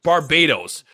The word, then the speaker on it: Barbados: yo, just let me know, how do you pronounce Barbados?